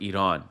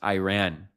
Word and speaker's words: Iran: This is where this fundamental disconnect comes from that makes the word be pronounced Iran in English, because there's no Y in the English writing.